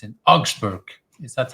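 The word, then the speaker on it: Augsburg: has a little bit harder and it's in Auxburg is that how I should pronounce that Auxburg right it's close to Munich and I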